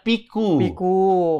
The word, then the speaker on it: Piyekoe: betul piku piku ya tulisannya kan piyekoe bacanya piku karena Happy koe happy-ku